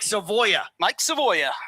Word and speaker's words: Savoya: Mike Savoya. Yes. It's 3 syllables.